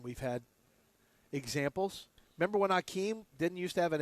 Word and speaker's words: Hakeem: Remember when Akeem didn't used to have an H? Right. Then all of a sudden he came up with an H. And it was still He's Akeem.